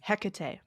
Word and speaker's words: Hecate: What's the pronunciation? Hecate.